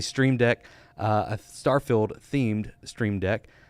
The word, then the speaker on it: Stream Deck: in my first video I pronounced it as Steam deck several times and got it wrong but it's a stream deck a star-filled themed stream